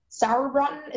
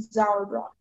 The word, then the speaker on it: Sauerbraten: Sauerbraten is a noun. Okay, sauerbraten. Is there any alternative pronunciations? Yes. There is Sauerbraten, and Zauerbraten. Sauerbraten? Yes, that's right.